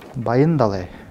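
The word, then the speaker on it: Баяндалай: В этом имени вы, наверное, заметили, что ударение стоит в середине слова. Это происходит из-за того, что имя состоит из двух слов. Баин – богатый, далай – океан. И напротив имени Намсаре внутри нет ударения, поскольку это цельное имя.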